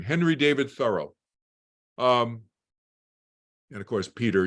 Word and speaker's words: Thoreau: of the word Furrow his name rhymes with furrow thorough rhymes with Furrow this is going to